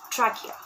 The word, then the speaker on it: trachea: pipe also called trachea please mind the pronunciations as well here it's called trachea trachea from trachea there